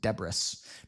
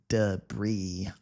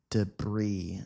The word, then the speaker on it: debris: they clung to debris I know it looks like this word is pronounced Deborah but we say debris debris debris if something is